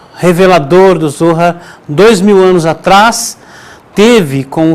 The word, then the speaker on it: Zohar: aqui lendo o Zohar, o Zohar, que é a forma correta de ser pronunciada a palavra, Zohar, que significa radiância, esplendor,